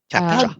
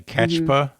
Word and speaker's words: CAPTCHA: CAPTCHA. How Dave spelled it? CAPTCHA. CAPTCHA. Like capture. CAPTCHA. But Well, how did I say? Catchpa?